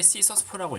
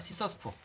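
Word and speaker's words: Csus4: 그래서 C2 또는 C9 그다음에 C4, 그러니까 C4인데 C sus4라고 읽습니다. C sus4.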